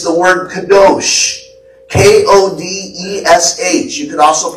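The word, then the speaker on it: קדוש: In the Hebrew, it's the word kadosh. K-O-D-E-S-H. You can also pronounce it kadesh.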